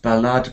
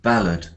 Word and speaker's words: ballad: say that word ballad say not ballad but ballad ballad um afterwards deril